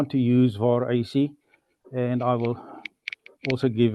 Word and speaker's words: VarAC: of pronouncing it but locally we've been um using the VA ac uh pronunciation Um, some people use VARC, although I think if you want to use the play on the call sign, then uh the VAR AC would possibly be more appropriate.